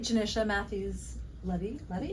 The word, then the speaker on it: Johnisha Matthews Levi: Johnisha Matthews Levi, am I saying it right?